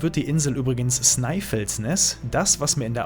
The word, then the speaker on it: Snæfellsnes: Ausgesprochen wird die Insel übrigens Snæfellsnes.